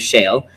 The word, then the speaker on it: Shayle: So my name is Shayle, and as you know, like it's something we drill for oil in.